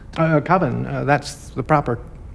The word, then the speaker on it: Coven: previous short film titled Coven, and don't try to correct him about the pronunciation. What else could it be pronounced? Coven, that's the proper pronunciation. No. Coven, no. Coven sounds like oven, man.